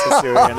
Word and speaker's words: Hisuian: choose to leave the Husini Arcanine in. I'm never going to not laugh when you mispronounce Hisuian.